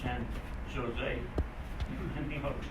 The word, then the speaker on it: San Jose: No, he said, not San Jose. He said, San Jose. Now, how do you get Ho out of a Joe? He said, while you're here in California, he said, remember when you see a J, pronounce it with a H sound.